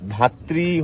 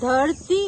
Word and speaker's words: ধরতি: তো এটা ধাত্রি homestay perfect জোস প্রোনাউন্সিয়েশন কে? ধরতি হোমস্টে ধরতি হোমস্টে।